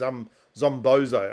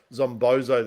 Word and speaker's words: Zombozo: What was his Zombozo? I can never pronounce his name properly. Zombozo the clown. He's like a creepy. Yeah, Zombozo.